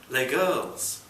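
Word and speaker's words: Les Girls: with Cole Porter score L girls rhymes with play girls the posters said helpfully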